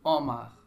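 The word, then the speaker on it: homard: bien pharmacie pharmacie Omar oui la lettre H ne se prononce pas c'est Omar je dis le mot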